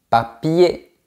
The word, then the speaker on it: papier: Par exemple, raconter, papier, premier, dernier, etc. On ne prononce pas la lettre R.